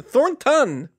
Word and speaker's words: Thornton: drinking I very tired it's very easy it's a newn t Thorn ton anyway go ahead n in the middle just in case you're